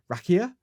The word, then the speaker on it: rakia: I'm going to try and say it properly rakia r a k i a so that is